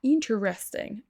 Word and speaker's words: interesting: Là pour la prononciation, vous entendrez parfois interesting, mais la plupart du temps, on nommé le le premier e et on prononcera directement ce qui nous donne intéressant.